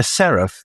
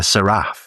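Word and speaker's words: Seraph: A serif. Do you know what a serif is? No. People mispronounce it. Some people call it a Saraf, which is fascinating.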